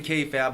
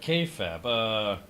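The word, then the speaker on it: kayfabe: the k-fab of course you know and k-fab yeah like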